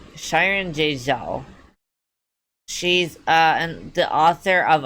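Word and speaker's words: Xiran Jay Zhao: Yeah, it's like Shyron Jouo.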